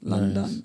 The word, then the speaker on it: LunDun: So, um, there's no O's, just U. So, L U N and then capital D U N. London.